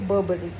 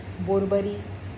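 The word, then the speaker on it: Burberry: Third brand है बर्बरी। इसको भी लोग बर्बरी, बोरबरी, ब्यूबरी, BU से स्टार्ट होता है, बट the actual pronunciation is बर्बरी, बर्बरी।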